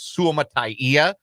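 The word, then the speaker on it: Suamataia: We were told when he was drafted that it was Suama'atia.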